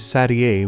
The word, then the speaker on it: Satie: Some people confuse it with 7, which is not not her number, but the correct pronunciation is Satie, which is not a number at all and sounds much fancier.